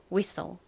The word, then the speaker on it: whistle: 이 단어의 발음은 WH가 우 소리 나고 I가 이 소리 나서 위가 되고 뒷부분 STLE는 덩어리 소리로 무슨 소리가 난다고요? soul 소리가 납니다. T가 묵음, E는 떨거지. 그래서 SL의 소리인 soul 소리가 나요.